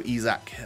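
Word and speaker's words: Isak: yeah we can just take ourselves a little ezac who one of you guys who was swedish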